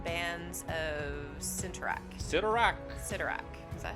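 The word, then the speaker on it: Cyttorak: strange uh crimson bands of center rack citarach sidorak is that how you say it yep so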